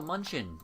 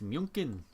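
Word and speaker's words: München: yeah so oh no munchin it's not it's not pronounced like that it's munin if we vassalized you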